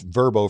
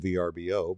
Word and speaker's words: Vrbo: verbo you know i've i've used verbo for years but i never knew that's how they pronounce it i just call it vrbo but whatever it is